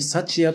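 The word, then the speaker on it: 福也: を紹介しますもうすっかり幸谷という読み方も定着してきたので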